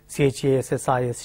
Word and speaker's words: chassis: is has precis s the final s is silent in French that the convention is that the last final s if not succeeded by a wobble sound it is silent just like debris GE BR is debris chass is chassis like this